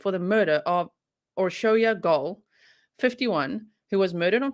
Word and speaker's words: Gaal: the victim's name correctly so thank you so much to all my hungarian grizzlies who've been commenting and literally finitely phonetically spelling it out so that i can be like oh or show you or show your goal okay so gold was